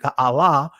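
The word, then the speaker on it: גָּאַל: Gala or Ga'ala, right? Gala or Ga'al, but really it's pronounced in the ancient Ga'ala, which similar to Gullah, right?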